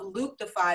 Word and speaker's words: Looptify: this is nate he's the ceo of luke defy that's how you pronounce it yes okay perfect perfect he's in